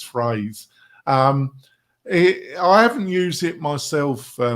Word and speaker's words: Phrase: I know Phrase. In another podcast, I said Frasier, but it's Phrase.